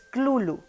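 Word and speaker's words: Cthulhu: como Cómo se pronuncia la pronunciación más cercana es clulo pero en realidad el ser humano no puede pronunciar la palabra entonces vale güey sí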